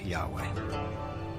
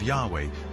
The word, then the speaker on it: Yahweh: was these four letters which in English would be yhw H which we think were probably pronounced something like Yahweh but Yahweh only appears